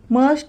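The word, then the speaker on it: mustn't: शां मस्ट नॉट मसं मस्ट नॉट मसंट यथटी silent आहे म्हणून त्याचा प्रोनन्सिएशन मसंट आहे मस्ट नॉट मसंट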